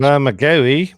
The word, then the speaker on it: Bermagui: I don't know how you pronounce that. Nick, help me out. It's an Australian New South Wales, South Coast. Bermagui, mate.